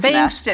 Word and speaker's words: Bengtson: And I'm happy to introduce to you Bengtson. Did I say that right? Close Bengtson. enough. It's B-A-N-G, but it's spelled B-E-N-G.